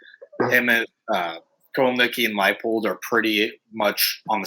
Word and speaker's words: Leipold: you guys are aware, is Lance Leipold actually Leopold? Is it Leipold or Leopold? I always fuck this up. Someone threw me off this weekend. I used to say it right, and then it's Leipold, right? Yeah, Leipold.